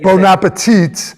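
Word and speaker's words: bon appétit: You were like, don't pronounce the last letter. Because And you said- bon appetit.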